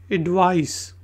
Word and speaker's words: advice: Word है जी एडवाइस, ADVICE एडवाइस। और इससे नेक्स्ट वर्ड है एडवाइज, ADVISE एडवाइज। इसमें जेड की आवाज़ आती है जबकि एडवाइस में एस की आवाज़ आएगी।